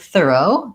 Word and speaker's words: thorough: And we can see in the word thorough that the stress falls on the first syllable. That's because we see this little line before the first syllable of the word.